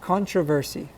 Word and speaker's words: controversy: contra versi all right you might hear that second o sounding like an a controversy okay but it